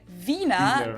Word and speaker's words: Wiener: in German we say Vina the German W is pronounced like an English V and it usually refer